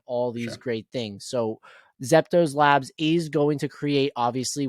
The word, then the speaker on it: ZeptoLabs: And the name of this company is ZeptoLabs, if I'm not mistaken.